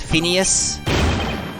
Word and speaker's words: Phineas: imagination is that right finis Finnish Phineas how do you pronounce that Phineas that's right I didn't see nothing